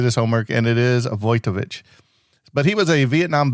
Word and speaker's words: Wojtowicz: So I he actually did his homework and it is avoich but he was a Vietnam veteran whose desperate attempt to help the person he loved would end in tragedy.